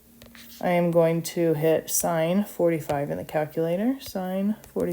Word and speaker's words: sine: So I'm going to use the sin button, as you kids like to say. Sin. It's actually pronounced sine, in case anybody was wondering.